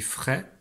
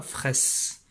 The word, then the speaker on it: frais: est frais tu vois quand je dis frais je ne prononce pas le nom ne dit pas fraysse donc la croix lettres